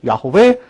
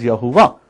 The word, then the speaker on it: Yahweh: Yahweh is a term for Yud-He-Vav-He, which many people pronounce like myself, Yahweh. Some of you pronounce as Yahuwah.